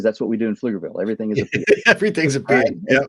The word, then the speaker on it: Pflugerville: we called it of course we live in Pflugerville which is spelled p-f-l-u-g-e-r Bill okay it's a German word